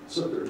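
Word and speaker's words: Tzuker: And a quote from January 2014 press release, Brigadier General Shamul, I can't pronounce his Hebrew last name, Sukur, T-Z-U? Yeah. Yeah? Was that close? Yeah, T-Z-U-Y. T-Z-U-K-E-R. Sukur, yeah. Okay, I was close.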